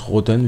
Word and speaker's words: Rottne: 20-f 20d alors lui me semble que ça se prononce rothen vu que la façon